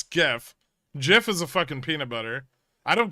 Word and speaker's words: GIF: probably be read again it's not pronounced Jiff it's GIF GIF is a [